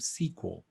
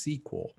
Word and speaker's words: SQL: actually pronounce the acronym sequel so it's pronounced it's spelled sql but it's pronounced sequel and it's it means